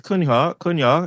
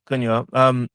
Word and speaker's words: Cunha: When we were linked to Cunha is that how we pronounce it? Yeah. Cunha.